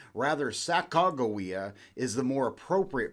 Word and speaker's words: Sacagawea: Sacagawea actually is the more English pronunciation of her name. Rather, Sacagawea is the more appropriate pronunciation, but for the